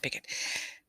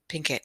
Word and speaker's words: Pinkett: not jaden sorry and make sure i'm going to say her name properly jade jada jada pickett pinkett she has her own